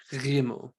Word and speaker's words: Gimel: So Gimel, without a dagesh, is pronounced Gimel, Gimel. You're still trying to do the G sound, but you're trying not to have it be plosive, rather fricative in the back of your throat.